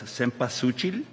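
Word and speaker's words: cempasúchil: Maragolds are known as seasuchil the correct term and how you pronounce it.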